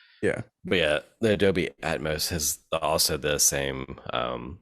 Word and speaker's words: Atmos: uh built into it why do you keep saying Adams Adams it's Atmos Adams oh is itos